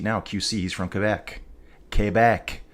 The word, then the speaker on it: Quebec: Quebec is how you say it, folks.